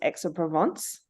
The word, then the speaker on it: Aix-en-Provence: So the first one that I played with for 3 years was Aix-en-Provence.